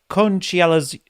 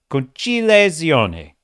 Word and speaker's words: Conciliazione: a packed gala screening in the Auditorium della Conciliazione. I actually learned how to pronounce this before the stream. Okay, let me try that again. Conciliazione.